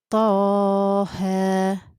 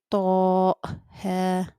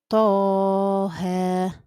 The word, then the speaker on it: طه: The same here. You say طه. You do not say طه. No, that's incorrect. The right way is طه.